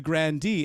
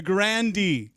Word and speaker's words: Grande: not pronouncing it right i think the e is silent i'm i'm i'm corrected i'm the idiot okay the grande tell us about those